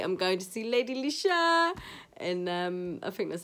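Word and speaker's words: Leshurr: If you don't know, Leisha, I don't know. It's spelled Leeshurr, like Lady Leisha.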